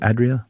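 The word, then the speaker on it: Adrià: The famed and fabled chef Ferran Adria, am I pronouncing his name wrong? Adria?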